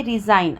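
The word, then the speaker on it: resign: रहे हैं ठीक है वैसे ही रिजाइन अब देखो कि रिजाइन में भी जी का प्रोनाउंस नहीं है साइन में भी हम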